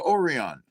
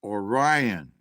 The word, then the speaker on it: Orion: That, Orion. It's pronounced Orion.